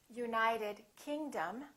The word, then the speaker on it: United Kingdom: If the place has two words, we stress the second word. For example, South America, we say South America. United Kingdom, we say United Kingdom.